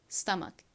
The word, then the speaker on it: stomach: 자, 복부 위를 의미하는이 단어 함께 발음 연습 해 볼게요. stomach.